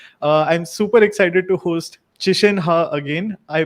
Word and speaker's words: Qishen Ha: I'm super excited to host Qishen Ha again. I pronounce his name correctly.